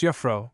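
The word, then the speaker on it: Jufvrouw: or Mero when they marry as with us they assume their husbands names but are still called miss Jaffro pronounced Yafro dot Brinker will consent to receive any but the great king of the Misters as Dr.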